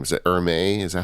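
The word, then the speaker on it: Hermès: It's technically Hermes in French, because you got to roll the R and then mess.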